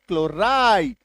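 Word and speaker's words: chloride: सी ये देखो सीएच एल ओ आर आई एन ई क्लोरीन क सी एच एल ओ आर आई डी क्लोराइड सी एच एल ओ आर ओ एफ एम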